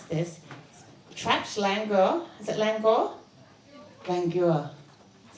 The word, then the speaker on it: Langur: our first finalist tonight to read her story called, I might mispronounce this, Trapped Langur. Is it Langur? Langur. Is that right? Where is she? Langor, thank you.